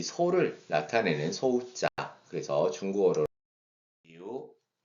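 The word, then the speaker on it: 牛: 그래서 중국어로 뉴 뉴 뉴라고 발음하면 되겠어요.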